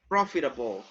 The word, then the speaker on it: profitable: is profitable profit profitable you have the stress on the first syllable if something is profitable